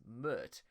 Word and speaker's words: Pmurt: which Chris says that Trump spelled backwards is Mert, which rhymes with hurt, and that Trump would badly Mert the US if elected.